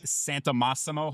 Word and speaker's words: Santamassimo: May 20th with Santamassimo. Hopefully I'm saying that right. You said it perfectly. Emphasis is on the right syllable on that one.